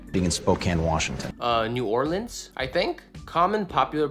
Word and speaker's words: New Orleans: Spokane Spokane okay being in Spokane Washington uh New Orleans I think common popular pronunciations New Orleans New Orleans prevailing local pronunciation